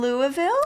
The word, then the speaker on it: Louisville: then you are from Louisville Louisville Louisville you got as monosyllabic as possible Louisville Louisville Les near